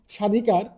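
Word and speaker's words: স্বাধিকার: যে নিয়মটা সেটি হচ্ছে আদ্য ব্যঞ্জন বর্ণ ব ফলা যুক্ত হলে মানে শব্দের শুরুতে যদি কোন ব্যঞ্জন বর্ণ থাকে এবং এর সাথে যদি কোন ব ফলা যুক্ত থাকে তাহলে সাধারণত সেই ব ফলার কোন উচ্চারণ হয় না যেমন সাধিকার সাধিকার স্বদেশ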